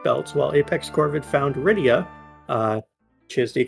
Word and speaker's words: Rydia: While Apex Corvid found Rydia, which is the correct pronunciation.